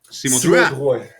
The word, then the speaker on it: Simon Drouin: Simon Drouin. Yeah. Simon Drouin. You say it. Go for it. Your turn. Yeah. Simon Drouin. 3 times really fast. Simon Drouin. Simon Drouin. Simon Drouin.